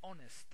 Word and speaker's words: honest: uh not a an because the H is silent h is consonant but we don't pronounce it it's silent that's why we follow